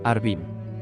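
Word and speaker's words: ערבים: de igual manera pero tienen distinta pronunciación cuervos orvin y árabes harbín también se argumenta que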